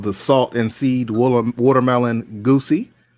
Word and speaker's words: Gose: It is called the Salt and Seed Watermelon Goosey. Others like to pronounce it Gose or Goza.